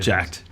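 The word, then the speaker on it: Jack3d: Jack 3D got banned or jacked spelled with a three the pronunciation did jacked Jack Jack when it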